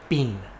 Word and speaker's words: been: So yeah, B-E-E-N, bean. That's how it's spelled. But I was just saying B-E-E, as far as not too many E's, no, B-E-E-N, bean. Should be bin, right?